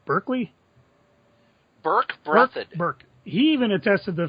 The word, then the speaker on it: Berkeley: Burke.